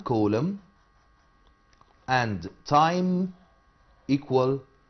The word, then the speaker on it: coulomb: على فكرة coulomb ده اسم scientist، اسم عالم، will be silent ما بننطقهاش، بنقول coulomb، ما نقولش coulomb.